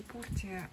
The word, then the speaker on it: Portia: Ну, по-русски Портия, а ее произносят как Портия.